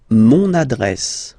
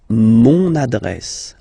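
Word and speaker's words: mon adresse: use adjective possessive masculine monad monad my address monad monad okay you can hear now this little link so you've got to pronounce this n monad monad okay and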